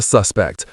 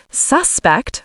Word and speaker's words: suspect: The police arrested a suspect. Or in daily talk, I suspect you know more than you're saying. That's great. And remember the pronunciation difference. Suspect for noun, suspect for verb.